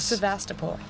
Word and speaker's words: Sevastopol: See, my problem is I can't pronounce anything. What is this? Sevastopol.